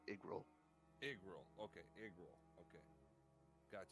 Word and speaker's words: Yggrail: It's pronounced like a bad eye, so it's like Igril.